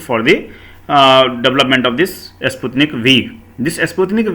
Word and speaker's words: Sputnik V: From that it is coming from the Sputnik V, and it is V, it is not the Roman letter 5, so it is called as Sputnik V, it is pronounced.